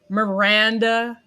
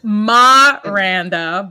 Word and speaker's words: Miranda: a's that everyone i love the way american guys say it miranda it's like no it's ma randa but i'm done yes but that's exactly it it's the caribbean way phonetically that's how they pronounce those names this manda as opposed to miranda you know i also